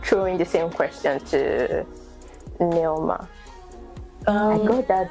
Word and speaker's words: Nneoma: So my name is Nneoma. Not Nneoma. Oh, no, you said Nneoma. You broke you put the N and then exactly. So it's Nneoma.